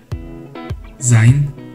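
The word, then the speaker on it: זין: 자인, 자인, 자인, 자인. 이 발음은 항상 Z 발음을 나타냅니다.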